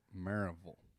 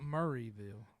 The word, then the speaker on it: Maryville: They call it Maraveville. Marble Marble. M A R Y Y V I L L E. Maraveville. It's Mville. It's not Murrayville.